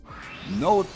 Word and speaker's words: Nótt: Note like this. I hate her name. Dagger is actually easier to pronounce for me as a German, as this